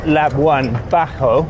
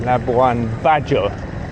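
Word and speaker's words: Labuan Bajo: Not Laban Bajo as I was pronouncing it Spanishly, but Laban Bajjo with a J.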